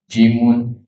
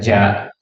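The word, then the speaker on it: جيم: Alifun ba taun sa jimun bukan ja tapi jim ha. Nah, mim bukan ma.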